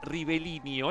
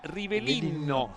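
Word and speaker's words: Rivellino: tenía papás italianos sí no es rivelino es rivelino porque se escribe con doble l No sí en Brasil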